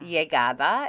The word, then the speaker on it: llegada: llegada is arrival. Remember, anytime you have a double L, you pronounce it like a Y.